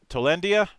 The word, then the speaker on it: Tolindia: of co-creator of freelancer sky is over over tolendia hoping i got that pronounced right the one and only brian mosley